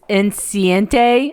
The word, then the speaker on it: enceinte: Like, my favorite episode is Lucy is enceinte, I believe it's pronounced.